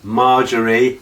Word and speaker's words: Margaery: So in the last episode we saw Margaery, yes, Margaery, got her name right now.